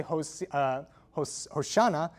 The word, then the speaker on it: Hosanna: donkey and people cry, Hosanna, blessed is he who comes in the name of the Lord, they say, Hosanna, not Hosiana, which is what it's written as in the Psalms.